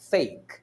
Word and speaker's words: fake: é uma sílaba Então quando você fala fake nessa palavra eu tô pronunciando somente um som de vogal que é o e embora você veja a letra E aí no final ela não é pronunciada então para quem não